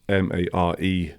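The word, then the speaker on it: Mare of Easttown: Mayor of Easttown is spelt Mare, not mayor. Oh, okay. Yeah. So it's Yeah. kind of play on words.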